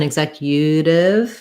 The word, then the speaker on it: executive: so here's what's tough sounds like egg zach yeah actually rather than executive we often change it more to a yeah so this might actually be a schwa rather than a new then i'm going to write the flap t as a d and that might help thinking about it as executive executive to practice getting it right start on the zac and then build from there executive executive executive you